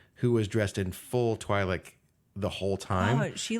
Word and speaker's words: Twi'lek: And Gaia is a Twi'lek, although she pronounced it Twi'lek. That threw me off. I never heard it pronounced like that, and I was like, wait a minute. We looked it up, and apparently it can be pronounced either way, but Twi'lek sounded weird.